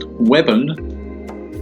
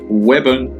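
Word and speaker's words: Weybourne: the language alive so wayborn pronounced webon get it right webon but that's 3 miles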